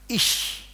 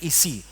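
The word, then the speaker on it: אִישׁ: Ish, bukan isi, ish bacanya ya, shh kayak gitu ya. Ini namanya shin, ish.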